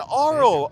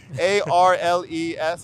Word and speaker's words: Arles: town called Arles, and I'm mispronouncing it because it's beautiful in French, but it's Arles, I think, Arles.